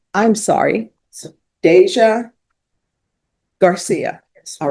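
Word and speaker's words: Dasia: But there is no way you're getting a J from a D A S I A.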